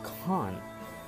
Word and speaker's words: can't: Okay, for the second, I would like to pronounce in British for the cannot, like con. Can you see the difference between can't and con?